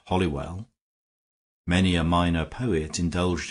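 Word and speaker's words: Holywell: some of the people slurred the name and pronounce it hollywell many a minor poet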